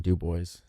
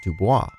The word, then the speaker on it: Dubois: But, in quiet protest, the town rejected the correct French pronunciation of Dubois and instead referred to the town with the stubbornly anglicized Dubois.